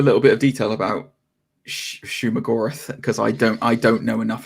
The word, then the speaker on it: Shumagorath: So my speculation on it was immediately when I saw it was like, oh, are they doing Sheogorath or whatever however you pronounce the name? Shumagorath. Shumagorath, that's it.